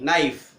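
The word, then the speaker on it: knife: जैसे कनाइफ नहीं, नाइफ, ठीक है।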